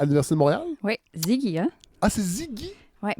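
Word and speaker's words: Siggi: Oui, Ziggy, hein? Ah, c'est Ziggy? Oui, pour Siegfried. C'est le petit nom de Siegfried Kracauer. S-I-G-G-I. Oui. Fait qu'on dit Ziggy. Ben, vous pouvez le prononcer à l'italienne.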